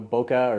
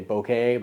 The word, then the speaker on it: bokeh: just mentioned it earlier you know bokeh or some say bokeh but sweet sweet bokeh bokeh derived from the Japanese word bokeh which um translates into